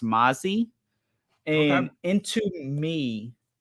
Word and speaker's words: MMASI: Kajal had a good presence, and another like slept on brand is MMASI, which is actually kind of pronounced Mazi.